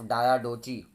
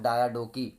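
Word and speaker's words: Diadochi: तो जब अलेक्जेंडर की मृत्यु होती है तो वॉर्स ऑफ डायाडोची, या फिर वॉर्स ऑफ डायाडोकी, कैसे भी आप प्रोनाउंस कर लीजिए।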